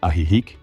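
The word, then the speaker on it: Ajijic: The town of Ajik, pronounced Aihik, is considered one of the safest communities in Jaliscoco.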